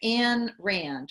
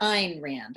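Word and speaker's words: Ayn Rand: with the philosophy of anne rand or ein rand i think is how you pronounce her name so for those of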